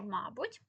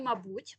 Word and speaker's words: мабуть: актуально є сго сьогодні тому слово мабуть і мабуть наголос подвійний в цьому слові є подвійний наголос тому запам'ятайте що можна казати і ма мабуть і мабуть і ви не помилитесь і це в реченні